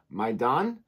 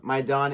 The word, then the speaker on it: Maidaan: And I'm looking at reacting to the trailer for the film, the teaser, excuse me, Maidaan, I believe is how you say it.